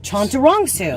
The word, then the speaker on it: Chantarangsu: i have to be looking at it so chanter chantarongsu chondurongsu yep that's not so hard yeah i know